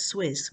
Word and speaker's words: SWS: You can pronounce it as Swizz, which is essentially the what the health what women experiencing healthcare get.